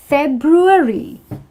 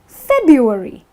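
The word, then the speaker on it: February: It's Feb-ru-aree. I've heard a lot of people mispronounce this and call it Feb-u-aree. What is Feb-u-aree? So when you say Feb-u-aree, you're actually forgetting the R.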